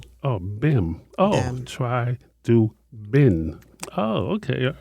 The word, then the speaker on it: Chidubem: Chai Do Bem. B E M. You have to pronounce that B. Oh, Bem. Oh, Chai Do Bem.